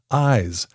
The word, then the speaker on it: iies: II the lead vocalist of the hip-hop group eyes eyes is spelled i i s and pronounced eyes Craig